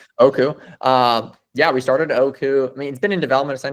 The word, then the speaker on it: Oku: Do I pronounce it correctly? Is it Oku? Yeah. Yeah. Yep. Exactly right. Oku.